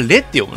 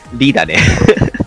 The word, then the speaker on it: Re: あ、リゼロのリってあれ実はレって読むの、あれ。いや、リだね。そこはリだ。あれ、レって読む。レとは読まない。